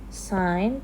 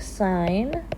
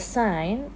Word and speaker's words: sine: So how you would pronounce sine here is like sine, not sin, but sine. And then this one is cosine.